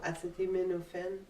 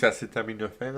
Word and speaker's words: acetaminophen: He couldn't pronounce what? Tylenol. No. Acetimophen in English is acetaminophen as well.